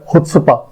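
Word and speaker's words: chutzpah: इसका प्रोनाउंसिएशन जो है वो है हुत्सपा। ये आप इसको ह पढ़ेंगे, हुत्सपा, हुत्सपा।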